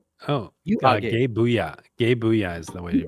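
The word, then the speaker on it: Gae Buide: Gabooya is the way You you are pronounce it. gay. I did a lot of research on this. You pronounce it Gabooya.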